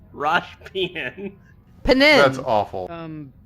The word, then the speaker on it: Penin: It's spelled Really? P-E-N-I-N. Rosh Penin.